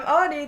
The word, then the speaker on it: Audie: I'm Audie. The O is silent.